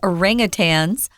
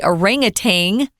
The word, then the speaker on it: orangutan: It will threaten endangered species like orangutans, or as a lot of Americans at least, we say orangutan. You can pronounce it that way too, but this is orangutan, which is a lovely,